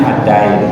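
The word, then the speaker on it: الدَّيْن: Adin itu tulisannya sama tapi bacanya addain.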